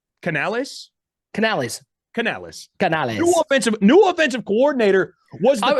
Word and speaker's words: Canales: We're going with the Spanish pronunciation. It's Canales.